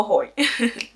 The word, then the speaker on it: Hoi: Entonces recuerdo que yo iba bajando una de las gradas y de repente se me acerca un chico y me dice Hoi. Hoi, que se escribe H-O-I, en español significa hola.